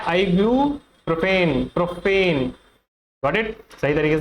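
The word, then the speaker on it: ibuprofen: इसका correct pronunciation होता है आइबुप्रोफेन।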